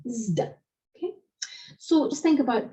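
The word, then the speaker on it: ζ: In the classical Attic, that's pronounced as in English wisdom, zd.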